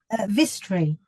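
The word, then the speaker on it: Vistry: Is that, am I pronouncing that right, Polly? Vistri.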